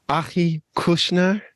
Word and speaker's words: Achi Kushnir: back to another tasty Tuesdays today I have Aki Kushner yes that's me yeah I said it properly yeah very uh very well pronounced uh you know that's not an easy